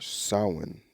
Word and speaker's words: Samhain: between a light half and a dark half samhain or samhain as i was properly uh pronounced is the celtics holiday in the beginning